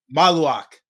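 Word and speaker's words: Maluach: I feel like I'm Malawak. Say saying that again, Ant. No, say it again, Ant. Dang, I can't even say it right now. Mal. Ooh. Maluak.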